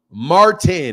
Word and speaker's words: Martin: my name is Martin Martin and pronounce that T I like that so